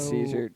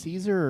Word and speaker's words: Caesar: So- Caesar did something.